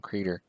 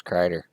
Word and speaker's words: Kreider: I called him Creeder. And it turned out it was Kreider.